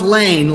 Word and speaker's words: Laehn: It's pronounced Lane like LE.